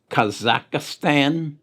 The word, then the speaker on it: Kazakhstan: that i also read about i believe it's pronounced kazakhstan another providence that is involved in the current